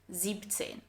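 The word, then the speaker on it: siebzehn: pay attention here because it's not 16 and 17, but 16, so without the S in 6, and 17 without the EN in 7. 17.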